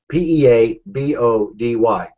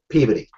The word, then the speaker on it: Peabody: is right next to a city named PE p e a b o d y pey That's how you pronounce it that's how every pronounced it pey